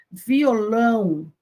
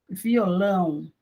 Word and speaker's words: violão: Violão, violão, nós não falamos violão, é violão, lão, lão.